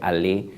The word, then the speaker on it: Allais: si mal no recuerdo, que se escribe Allais, pero se pronuncia Allais.